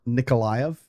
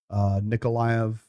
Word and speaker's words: Nikolaev: Right in the center of the map below Mykolaiv, or Nikolaev, either pronunciation. Nikolaev.